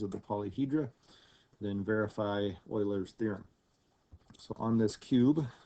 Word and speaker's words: Euler: okay this guy's name is Euler looks like Euler it's actually pronounced Euler he has a theorem that says the number